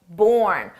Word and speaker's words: borne: That's right, born. With an optional E for spelling, but pronunciation is exactly the same.